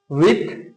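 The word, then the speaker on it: width: D would be silent here and D would be silent विड्थ and breath in both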